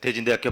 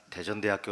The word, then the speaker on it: 대진대학교: 교수님의 토 부터 4 대진대학교 박영민 입니다 가끔 저희 학교 이름을 잘못 1 그 시다가 대전대학교 라고 읽으시는 경우 했는데요 자칫 그 경부선